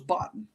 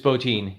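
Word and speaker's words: Bottin: pronounced his last name I always thought it was Boton it's botin yeah it's okay yeah I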